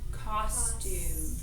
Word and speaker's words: costume: so yeah and so the first syllable is accented costume because that's where our mouth is open wider so I'll go ahead and put the accent there so we don't forget all